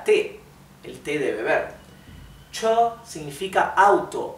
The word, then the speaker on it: 车: Y el tono alto significa que esto no se pronuncia cho, se dice cho, ¿bien? El tono alto, primer tono, cho.